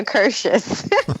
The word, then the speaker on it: Akershus: And we had lunch, a late lunch at Akerhus, or I don't know how you pronounce that. Nobody does. We all say it differently. Which is funny. Akershus? I say Akershus.